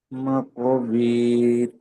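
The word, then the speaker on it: المقابر: হাত্তা যুরতুমুল মাকাবির। মা ক, টান দিতে হবে আলিমানটা, মা ক বীর।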